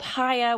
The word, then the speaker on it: Chaya: She also runs a large organization called Haya, which she started, and it's spelled Chaya.